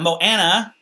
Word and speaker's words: Moana: So you got Moana.